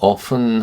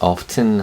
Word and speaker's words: often: Her sisters often, 종종, often은 T 발음을 빼고 often 하기도 하고요. 어떤 사람들은 often 하기도 합니다.